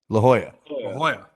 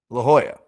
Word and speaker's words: La Jolla: La Jolla. La Jolla.